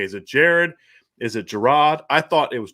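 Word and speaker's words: Gerad: all day how to say his name it's jared parker that's how you say it it's g-e-r-a-d so i didn't know if it was okay is it jared is it jerrod i thought it was gerard at first i didn't notice that there wasn't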